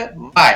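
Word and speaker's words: why: Next वाई, अब यहाँ पर भी H है वो उसके उच्चारण नहीं करते हैं तो इसको पढ़ेंगे वाई।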